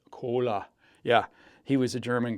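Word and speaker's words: Kohler: engines, by the way, Martin would pronounce Coler this way. Cola.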